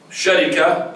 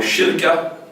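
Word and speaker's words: شركة: Sharika, or Shirka, or Sharaka. Through 3 are good, right pronunciation.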